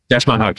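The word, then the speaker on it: Dash Mihok: You have a great ensemble cast, and I think his name, I think I'm pronouncing it right, Dash Mihawk. Dash Mihawk, yeah.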